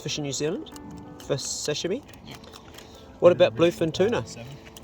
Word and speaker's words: sashimi: Well, you're the one that got me into the sashimi, or sashimi, how I say it, but sashimi's the right way to say it, yeah?